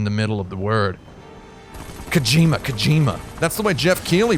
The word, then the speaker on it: Kojima: out for mispronouncing Hideo Kojima's last name. Or Hideo Kojima's last name. Because I pronounced it Kojima. Kojima. It's Kojima.